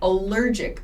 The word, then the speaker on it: allergic: called an allergic reaction the pronunciation is allergic reaction please keep in mind there is this word allergies i have allergies like i have allergies to pets or i have allergies to food allergies and allergic have slightly different pronunciations so i'm having an